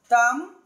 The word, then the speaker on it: thumb: Yes, whenever we find MB at the end of any English word or in the middle of an English word, the B must be silent letter. Thumb, bone, climb, lamb, dumb, flama, succumb, num, tomb, limb, crumb.